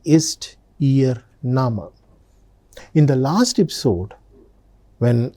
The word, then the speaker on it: Name: Look at the spelling. It's written just like English word name but the pronunciation is nama.